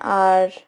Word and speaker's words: hour: consonant H but again when you listen to this word carefully you'll realize that H is not actually pronounced over here it's only o u